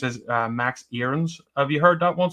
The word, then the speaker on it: Aarons: Um, but m Max is its or I thought it was Arens. Now I'm being told it's it's pronounced as Max Erenss.